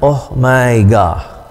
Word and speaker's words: omega: perhatikan huruf besar kecilnya lalu pembacaannya Oh my god tapi jangan salah ya ini bukan oh my God bukan ya ini oh my god Omega dan kita bisa menemukannya ee mengucapkannya dalam bahasa Indonesia seperti pada kata dosa o o o sa dosa gitu dosa Oh my